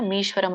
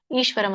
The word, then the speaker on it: ಈಶ್ವರಂ: ನೀವಲ್ಲಿ ಮೀಶ್ವರಂ ಅಂತ ಇದೆಲ್ಲ ಮೀಶ್ವರಂ ಅಂತ ಹೇಳೋಕಿಂತ ಈಶ್ವರಂ ಅಂತ ಹೇಳಿದ್ರೆ ಒಳ್ಳೆದು ಸಮವಸ್ತಿತಂ ಈಶ್ವರಂ ಅಥವಾ ಸಮವಸ್ತಿತಂ